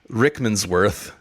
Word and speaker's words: Rickmansworth: death so they head to a place called rickmansworth sure I'm pronouncing that wrong just north of London yeah